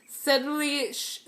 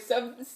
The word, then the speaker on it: subtly: Subtly. Subtly. Okay, I know the word. I just don't know how to pronounce it. There's no B. I know, but why does it have a B then?